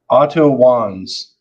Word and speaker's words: Otto Wanz: I can't even pronounce his name, Otto Schwartz. Oh, what was his last name, Zeus? Otto Wanz.